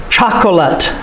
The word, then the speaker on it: chocolate: Chocolate. The E is silent. The final E is almost always silent.